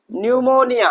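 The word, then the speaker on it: pneumonia: जब भी पी कब कहां आए? एन से पहले आए या फिर एस से पहले आए तो वहां पर पी क्या होता है? साइलेंट होता है। क्या होता है? साइलेंट। वहां पर हम पी का प्रोनाउंसिएशन नहीं करते हैं। तो आइए देखते हैं कुछ एग्जांपल्स। जैसा कि हमारा शब्द है क्या? निमोनिया। क्या भैया? निमोनिया।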